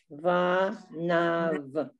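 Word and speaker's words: בניו: The Yud Vav ending is pronounced Av. Av. Vanav.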